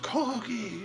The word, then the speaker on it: Corgi: And I said, she just laughed at me and said, "Oh, that's pronounced corgi, you stupid American."